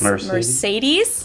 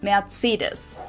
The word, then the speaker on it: Mercedes: in Germany um so most Americans call this Mercedes this is one of the two of my